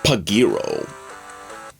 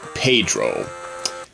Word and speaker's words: Pedro: Which I always thought it was pronounced Pagiro. But it's actually supposed to pronounce Pedro.